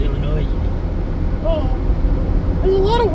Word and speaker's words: Illinois: I used to think it was Illinois. Well, it kind of looks like Illinois, but I'm pretty sure it's pronounced Illinois.